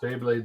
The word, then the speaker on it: Beyblade: All I hear about is Beyblade this, Beyblade that.